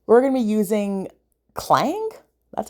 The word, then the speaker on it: Klang: we're going to be using clang that's how you say it in the fantasy